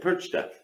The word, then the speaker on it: Perchta: You know, Frau Perchta? Mhm. Perch? is he saying it right? No.